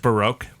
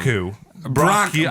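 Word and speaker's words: Braque: So he developed Cubism with his buddy George Baroque.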